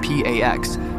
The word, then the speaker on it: P4X: He chooses P4X, pronounced P AX, a cheeky nod to enforcing peace through punishment.